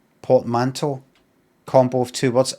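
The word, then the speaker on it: portmanteau: Ah. But remember this is an English person. That's how they say Py pot. Port manto. Ah, Americans. The to one.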